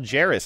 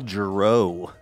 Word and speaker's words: Jarris: So it says it rhymes with Harris or Ferris. So it's Jill Jarris. I think we've gotten that wrong probably every dang time. Prior I believe to this. I've been saying Jill Jarreau.